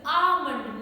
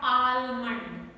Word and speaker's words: almond: focus on this word this word is almond almond the pronunciation is almond not almond i have heard people